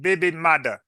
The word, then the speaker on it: baby mother: done check this out the term originated in Jamaica Jamaica and Creo as baby mother pronounced baby maada with the first printed